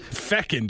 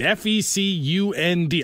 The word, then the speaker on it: fecund: Fecund? Fecund. F-E-C-U-N-D.